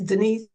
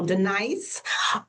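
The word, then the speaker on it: Dnice: Me on Facebook is Denise. So, I spell my name a little different. My name is spelled D N I C E. So, Denise uh on Facebook.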